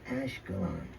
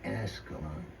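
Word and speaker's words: Ashkelon: Tell him it's Ashcolon, not Ascalon.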